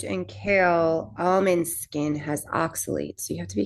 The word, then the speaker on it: oxalates: Well, it has oculates in it. Am I saying it right? Is it oculates? It's ox with an ox. Oxuitates. Oxalates.